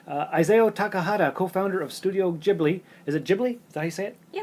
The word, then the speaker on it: Ghibli: Co-founder of the Studio Ghibli.